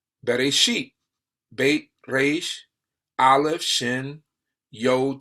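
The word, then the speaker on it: בראשית: Bereshit, Beit, Resh, Aleph, Shin, Yod, Tau, right? Bereshit. Bereshit. That's how you say it in Hebrew.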